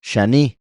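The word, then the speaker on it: שני: se le puso y escarlata en hebreo es esto shani shani esto yo lo explico en el libro shani si lo pronunciamos shini es segundo aquí ponen como otro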